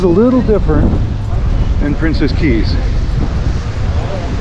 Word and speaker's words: Cay: On this side it says Coco K. Although I think it's pronounced key.